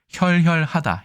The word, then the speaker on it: 혈혈하다: 한자 시험에도 자주 나오는데 이 글자 두 개를 이렇게 써서 하면 자자가 아니라 혈혈입니다. 혈혈하다, 혈혈하다의 어근인데 우뚝하게 외로이 서 있다, 의지할 곳이 없이 외롭다, 아주 작다.